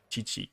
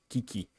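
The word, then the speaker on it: Qiqi: mean, you have to press this QEQE, not CHI, or like, yeah, whatever. It's this is how the name is spelled. Chi-Chi. It's Kiki, but you know.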